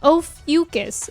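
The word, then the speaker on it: Ophiuchus: Oh, it's pronounced ofus. Ofucus. And it's between Scorpio and Sagittarius. How very interesting. Ofucus.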